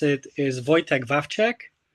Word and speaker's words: Wojtek: So, the way you pronounce it is Wojtek Wączek. Wo- Wojtek Wączek. Yeah. Yeah, it's like Wojtek. It's like toy and tech like technology.